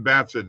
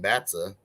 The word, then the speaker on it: Batson: yes all day stephen batson didn't see that christian christian said didn't see that not steven batsa i know i'm i